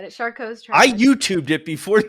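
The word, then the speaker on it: Charcot: shark cots all right charcoals you're right the t is silent like the pea and toilet right all right charcoal's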